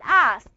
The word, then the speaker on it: asked: Why do I pronounce the ed as a ta? Why? In your advanced grammar, you took that. Exactly, because the ka is voiceless. It's going to be asked, stopped, for example, watched. Yeah? You're going to pronounce it as a ta sound because the final consonant of the verb is voiceless.